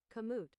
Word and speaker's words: Kamut: Kamet? I don't know how to pronounce that. That thing. How do you pronounce that? Kamut.